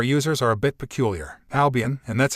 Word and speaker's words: Albion: Albion, and that's how you say it.